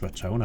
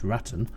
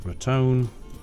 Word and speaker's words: Raton: I believe it's pronounced Ratone. I don't think it's Ratton. I'm going to stick with Ratone.